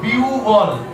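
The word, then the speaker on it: বিহ্বল: বলবো আওয়মান আওয়ান আহান আমরা বলবো বিউবল বিউব বিহব্ব বলল বলবো না কি বলবো বিউব বিউবল বিউবল বিউবল বিউবল একই ভাবে বলবো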